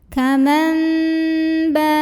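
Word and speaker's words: كَمَنْ بَاءَ: Saya pakai yang merapatkan bibir. Kaman ba.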